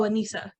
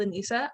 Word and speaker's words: Anissa: appearance and then go oh anissa and then because i'm so used to being called in isa i don't even catch it anymore and then i feel bad because other people are like they're pronouncing your name wrong and i was like